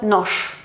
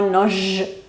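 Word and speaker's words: нож: Por ejemplo, nosh, que es cuchillo, nosh, no noj, nosh. Y la Z pasa a S, por ejemplo, raz, que significa vez.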